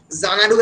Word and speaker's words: Xanadu: Kobir nijer moner je dissatisfaction suggest kore Xanadu because Xanadu XANADU Xanadu actually begins with the word X but amra pronounce korchi Xanadu Z diye.